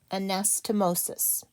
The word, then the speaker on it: anastomosis: it correctly and then I personally like to break the word into syllables especially when the word is this long so we have a Nas toe MO sis anastomosis that is a five syllable word each syllable must have